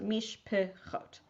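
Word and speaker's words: משפחות: If you've got two Shivas that appear in a row, the second one is a syllable all by itself. So Pam, let's try the second one. Mish pachot. Nice. Right? So that mish is the mish, the Shiva under the mish, you don't pronounce, but the Shiva underneath the pei you do. So mish pechot.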